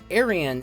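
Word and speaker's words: エイリアン: Aryan is how alien is pronounced in Japanese, yet the creators deliberately chose L.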